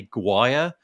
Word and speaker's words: Gwyer: been built by David, I'm going to say Guire. Does anybody know David? I think that's right. Okay. I could be wrong. David's surname is spelled David's surname is spelled Gwyer. So I'm going with Guire.